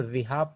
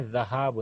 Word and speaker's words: ذهاب: کیا مصدر ہے، ذهاب، انڈیا پاکستان کے مدارس میں اس کو ذهاب پڑھتے ہیں اکثر، ذهاب غلط ہے، اصل مصدر کیا ہے، اسپیلنگ ڈکشنری میں ذهاب، زال پر فتحہ ہے، ذهاب جانا، जैसे नजहा,